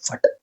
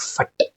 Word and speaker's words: Phat: purpose normally the fat when you pronounce the word fat it creates energetic ex exclus um explosion even whenever you use word fut you use fut f see F here you will not touch the tongue okay it is energetic